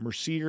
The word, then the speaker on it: Mercier: making the delicious flavors that they're famous for when it comes to Mercier Orchards Hard Cider.